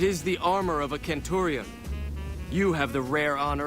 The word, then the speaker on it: Centurion: I mean, they're not that off, though, because in Latin, the Romans actually spoke like that. They used a hard C for everything. Like, they did say Caesar, they did say Centurion. It's like only in later times where we have more or less anglified it into a soft C.